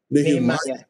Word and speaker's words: Nehemiah: Nehemiah. Program. Yes, sir. It sounds, it rhymes with Jeremiah.